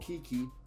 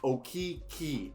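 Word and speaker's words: Okeke: in mo wagner franz's brother r.j hampton chumo kiki okay some people say it's okay and i've been told by like eight magic fans it's okay okay wait okay e y k e y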